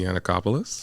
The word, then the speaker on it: Yannacopoulos: have a special guest from New Beginning Stacey anacopoulos how are you I'm good I said that